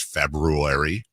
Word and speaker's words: February: Like nobody says February. Say February. But that's not how it's spelled.